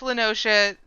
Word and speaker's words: Noscea: Noscea. It isn't, right? Merlwib says it's Noscea, and I stand by Merlwib because, yeah, who wouldn't?